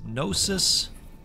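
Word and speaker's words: gnosis: goat you know what I think it's nosis and the g is silent so whichever you prefer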